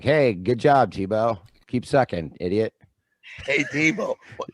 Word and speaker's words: Thibault: Thibault. Just like Thibault, the football yeah.